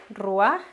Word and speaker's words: ruach: término el término es ruar se escribe se pronuncia lo recuerdan ruar bien Este término reward como ya habíamos visto